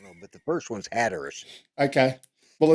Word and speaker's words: Hatteras: Hatteras. Hatteras and Ocracoke Island. Down that one, I don't know, but the first one's Hatteras.